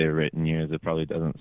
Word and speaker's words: The Written Years: I think most people it's kind of hard two words to say like written years like it always sounds like red in ear or like reindeers or